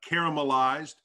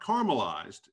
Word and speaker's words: Caramelized: the operator of uh caramelized it's not caramelized it's caramelized make sure you say it right and but uh cara